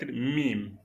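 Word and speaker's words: ميم: Lâci mim. Mim c'est une lettre qui est prononcée presque par les lèvres. Vous collez les deux lèvres et vous basculez. ça donne mim.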